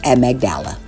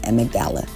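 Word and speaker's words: amygdala: cortex all right guys it's at magdala I just when Googled the pronunciation em magdala in the insular cortex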